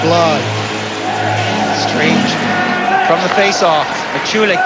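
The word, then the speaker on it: Blahyj: As you say, Paul, his name is spelled B-L-A-H-Y-J. His nickname happens to be how you spell it, Lodge. But he pronounces it Bly.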